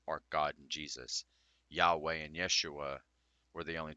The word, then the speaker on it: Yahweh: whenever I'm in the shower I've been asking Yahweh which is the correct pronunciation in the Bible of God I don't